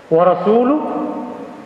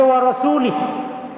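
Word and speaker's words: وَرَسُولُهُ: yang berbeda-beda pengucapannya pelafalannya bahkan ada yang salah baris mestinya warosuluh dibaca warosulih Hai Innallaha barium Minal mu'miniina warosuluh binal mu'miniina ada yang baca warosulih itu keliru banget itu sesungguhnya Allah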